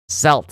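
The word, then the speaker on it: Celts: 22 for Henry on the other bar, 20 for Azilla, 16 for FO, 15 for I see I almost called them Kelts again.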